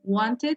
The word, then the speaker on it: wanted: suena de la forma wanted se mire algunas personas pronuncian guandique así no la pronuncian la lata pero si se pronuncia la en este caso por